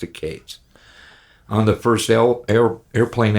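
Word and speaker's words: Katz: Matthew Kates spelled k a TZ but he pronounced it Kates on the first air airplane album he managed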